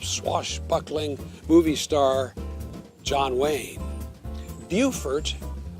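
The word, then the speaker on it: Beaufort: movie star John Wayne bufort South Carolina not to be confused with bfort North Carolina which is spelled the same and named for the same English gentlemen bufor is a beautiful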